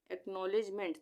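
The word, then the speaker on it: acknowledgement: एक ले लेंगे एक साथ, यानी ACK का उच्चारण होगा एक, आधा का है ये एक। उसके उसके बाद NOW नौ, इसको हम नौ पढ़ेंगे, NOW को नौ, ये ऊपर लग गया ना नौ, एक नौ। उसके बाद लेज, LEDG लेज, यहाँ पे डी आ रहा है, यहाँ पे उच्चारण DG के साथ क्या बनेगा, ज का, लेज, LEDG लेज, LE से ले और DG से ज, लेज।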